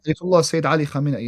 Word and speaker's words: Ayatollah Sayyid Ali Khamenei: Ayatollah Sayyid Ali Khamenei.